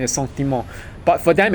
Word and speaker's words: sentiment: In French it's pronounced as sentiment.